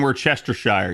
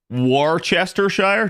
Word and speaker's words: Worcestershire: Worcestershire? No, it's war. So, as if you wore clothing.